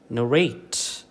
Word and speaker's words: narrate: Same is the case with words which end with ate. Okay, ate, eight വെച്ച് എൻഡ് ചെയ്യുന്ന വാക്കിലാണെങ്കിലും you give primary stress to the second syllable.